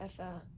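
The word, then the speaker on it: Aoife: He's going to Effie, or Afa. I think I've learned how to say it now. Afa. Yeah, okay. It's like Ava, but with F, like Afa.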